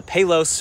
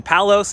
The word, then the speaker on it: Palos: been a thing today's ride is at the pelos forest preserve i was saying palos until i actually met the locals and they